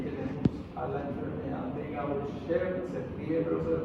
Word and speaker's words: Gaucher: Otras causas son las enfermedades por depósito, y ahí tenemos a la enfermedad de Gaucher, se escribe pero se pronuncia enfermedad de Gaucher.